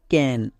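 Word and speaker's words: can: এর পরে কি আছে সি এর পরে ই আই ওয়াই থাকলে দন্তস সি এর পরে এ আছে মানে ই আই ওয়াই নেই তাহলে সি এর জন্য কি হবে ক হবে পরিষ্কার তাহলে সি এ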